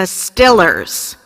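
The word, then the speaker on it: Steelers: team is called the I'm going to pronounce it in the way they do here the Stillers okay so here are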